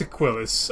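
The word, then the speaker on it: Aquilus: to keeper ailis or as they pronounce it it's aquilis I I refuse to pronounce it aquilis it's a killis in he's a killer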